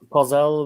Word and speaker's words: Kozel: How do you pronounce it? Kozel? Kozel, which means goat, basically.